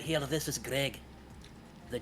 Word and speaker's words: Gregjj: She was asking where it is, not where, Greg not silent J. Oh. might be asking where it is physically. Well, it's at the end of his name. His name is spelled Gregjj, but the J is silent.